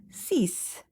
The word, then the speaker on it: six: Six in French is cease. Cease. Uh x is not pronounced and it is pronounced as s.